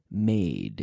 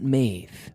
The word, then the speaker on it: made: Made. We have to pronounce those D's at the end of the words, okay? Made. Not maith, but made. D.